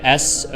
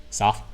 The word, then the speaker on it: soft: So to pronounce the word S-O-F-T, I say soft. I pretty much don't even pronounce the last T. Soft. Soft. So it's like, you pronounce the F sound and then just a hard stop.